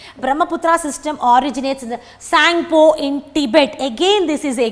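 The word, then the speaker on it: Tsangpo: Brahmaputra system originates from the Sangpo. T is silent here, T-S-A-N-G-P-O. Sangpo of Tibet.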